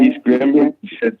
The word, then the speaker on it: East Granby: Yeah, East Granby, South Norfolk.